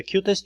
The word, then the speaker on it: QUTest: The last thing I'd like you to check out is the QTest unit testing harness, pronounced like the cutest little thing, which is now part of QTools.